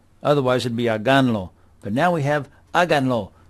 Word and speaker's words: háganlo: The accent's up here, and we are 3 syllables from the end. So we need to put an accent on here. Otherwise it'd be háganlo.